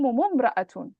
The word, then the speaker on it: امرأة: Now this type of hamza, this hamza, you only pronounce it at the beginning of a sentence. But if you're joining, you don't pronounce it. You don't say it, you don't mention it. So how would you join تحكمهم and امرأة? You would put a dhamma. So you'd say تحكم ممرأة.